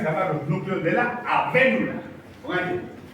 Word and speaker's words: avénula: Una que se llama glándula pineal y otra que se llama los núcleos de la avénula. Avena. N-U-L-A. Acento en la E. Avénula.